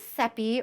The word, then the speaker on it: Seppi: So, my name is Seppi, rhymes with peppy, as I like to say.